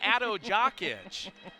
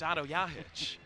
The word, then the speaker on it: Otto Jahic: Folks, don't call him Otto Jakic. It's Otto Jahic.